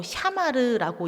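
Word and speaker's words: שמר: 여기서 지키다는 히브리어로 샤마르라고 읽습니다.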